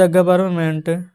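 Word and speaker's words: government: तो द गवर्नमेंट जी ओ वी ई आर एन एम ई एन टी यहां पर जो एन है ना वो साइलेंट रहता है।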